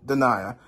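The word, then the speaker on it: Danai: getting your name wrong I thought her name was Danny but no I relooked her name and her name was danaya um um danaya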